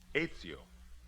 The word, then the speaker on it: Ezio: Is that the way you pronounce it? That is right. Ezio Pinza. How's that again? Ezio.